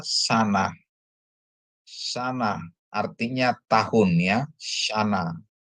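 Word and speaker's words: שָׁנָה: Terus ada sin, dikasih kamats, nun dikasih kamats, dia bacanya shin dikasih kamats sa, nun dikasih kamats na, jadi tambah he, jadi bacanya sana.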